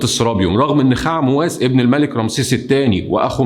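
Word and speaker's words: Khaemwaset: خاء-مواس ده هو اسمه أصلا خاء-ام-وست بس بتتنطق خاء-مواس.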